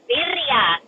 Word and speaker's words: birria: Passion, before you jump down, I just came up here to say it's birria, girl. You gotta roll your R's.